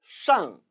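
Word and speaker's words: 上: 윗 상자 상, 상 발음 조심하세요. 잘못하면 사회에 불만 있는 이상한 발음이 나올 수도 있죠. 따라서 권설음의 유의에서 발음하시기 바랍니다.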